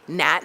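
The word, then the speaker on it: Gnat: So Jeff was trying to remember how to say Nat, not Nate.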